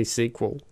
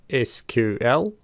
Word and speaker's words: SQL: over some pronunciation so there are two ways to say SQL we can either say the letters as in SQL or we can say the word SQL either way of saying it is fine personally I tend to say SQL most of the time however